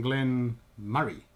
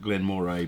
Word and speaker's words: Glen Moray: today we're having some glenn murray yes i've always probably answered glenn moray because that's how it's spelt but i thought exactly the same until i looked and it's actually murray whatever